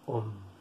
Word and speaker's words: Om: porque vamos a decir Om. ¿Veis? Con el aire que sale, oh, la O muy larga, y cuando ya se va a terminar el aire, se pronuncia la M.